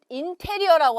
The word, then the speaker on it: interior: 자, 우리가 interior라고 하잖아요. 한국말로는, 그렇죠? 근데 영어 발음으로는 interior이라고 하시면 되겠어요.